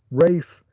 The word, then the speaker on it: Ralph: There was that actor bloke. Who was it? He's got silent hell. Rafe. Rafe fines. Maybe it's spelled Ralph, isn't it? Fairly sure it's got an L in it, but he's got a silent L in his.